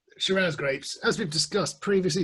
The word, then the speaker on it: Shiraz: sarah went to australia through a series of pronunciation issues with an australian accent over the years it became shiraz rather than cirrus and sarah's are from